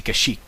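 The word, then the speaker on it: Kashyyyk: there's Kik and kashik I say kashik you know like cash money and shik like the AR shik and uh kashik like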